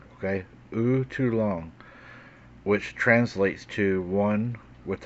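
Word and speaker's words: U'tlun'ta: Spearfinger, known in the Cherokee language as, and the pronunciation of this would be U too long, okay? U too long, which translates to one with a pointed spear.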